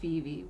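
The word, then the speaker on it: VeVe: you can actually download the app called vv which is spelled v-e-v-e and that's some light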